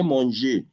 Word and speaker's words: manger: If I say manger, the arrow becomes A.